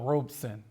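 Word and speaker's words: Robeson: Um one of the uh things that uh Paul would often do uh is say his last name is two syllables, right? Paul Robson.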